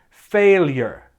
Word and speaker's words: failure: say failure failure but it has a y sound after the l a y sound so it sounds like this failure failure failure and let's take a